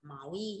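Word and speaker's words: 毛衣: Áo len sẽ đọc là máu y nhá.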